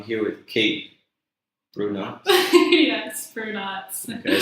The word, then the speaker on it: Brunotts: Yes, Brunotts.